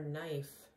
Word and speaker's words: knife: a knife remember students the spelling for knife has a k a silent k the spelling is k-n-i-f-e he uses a knife